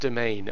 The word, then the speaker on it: demesne: important right now yeah so it's actually pronounced domain um I'm led to believe